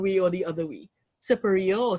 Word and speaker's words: Siparia: So I pronounce it, I grew up pronouncing it Siparia. I also hear people pronouncing it Siparia, and I'm like, I don't know where you're from, but okay. But apparently there's a large enough population that says Siparia.